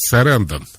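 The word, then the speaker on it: Sarandon: Кстати, похож на сюжет фильма Джулии Робертс и, правильно говорить, Сарандон. Сьюзен. Да, Сарандон.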